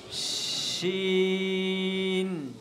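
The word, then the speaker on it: ش: এরপরে দেখো সিনের উপরে, পর হরফটা সিনের উপরে 3টা নোক্তা দিছে, এটার নাম কি, আমার সাথে সাথে সবাই বলো, শিন। বলি একটু আওয়াজ হবে। কেমন? শিন।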